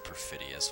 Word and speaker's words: perfidious: Oh, it is perfidious. Why did I pronounce it like that? I just omitted the second I.